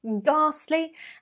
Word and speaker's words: ghastly: 21 ghastly ghastly and make sure you do pronounce it with the r ghastly and beastly beastly again two adjectives meaning very